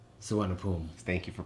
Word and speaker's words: Suvarnabhumi: You can from the international airport, which is called Suvarnabhumi. Thank you for pronouncing that.